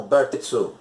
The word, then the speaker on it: Bartitsu: Nós podemos levar algumas coisas em consideração, como a própria pronúncia do termo Bartitsu em inglês, que soa algo como Bartitsu.